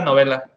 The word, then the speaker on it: Novella: Se pronuncia novela.